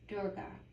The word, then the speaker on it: Durga: Durga, pronunciation D-U-R space G-A-H, Durga. But how you spell the goddess name is D-U-R-G-A.